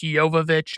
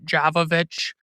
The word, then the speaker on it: Jovovich: Yes, her name is pronounced Jovovich, not Javovich.